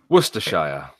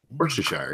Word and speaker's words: Worcestershire: says cho chester equals toaster the way you pronounce it yeah Worcestershire Worcestershire yeah exactly west of Worcestershire Oh Worcestershire Worcestershire